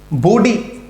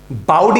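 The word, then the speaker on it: bawdy: बॉडी, बाउडी नहीं, बॉडी, बॉडी, थोड़ा auto को आगे निकालो, बॉडी, ठीक।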